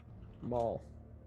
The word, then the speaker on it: maul: wrong i'd do that you kept saying mole like uh like a gopher i thought he had a little summon it's a mall maul darth maul you mauled people with